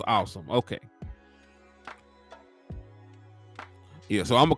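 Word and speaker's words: Asim: So it is pronounced Awesome.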